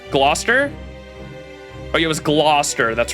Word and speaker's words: Gloucester: what gluester Gloucester oh yeah it was Gloucester that's right Council recognizes I already said my